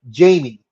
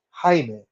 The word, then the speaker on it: Jaime: receptionist that tells Jaime she calls him Jamie and he said no my name is Jaime and she goes okay